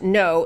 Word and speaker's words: Ngo: is a guy named last name is NGO pronounced No, Andy Ngo.